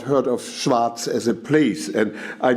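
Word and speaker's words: Schwaz: had not heard of Schwarz as a place, and I knew of Klangspuren, but not of Schwarz. I was told that it was just pronounced the way Hamburgians say Schwarz, except without the R.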